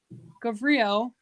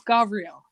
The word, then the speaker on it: Gavriel: and matthew okay and it's not pronounced gabrielle even though it would make better sense in the title but it's gavriel so i'm gavriel and that's